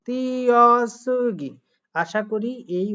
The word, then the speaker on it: 띄어쓰기: পরেরটা খেয়াল করেন, হওয়ার কথা কি তুই অসুগি, তুই অসুগি, কিন্তু এখানে হবে তি অসিকি, 띄어쓰기. তিয়াসুগি।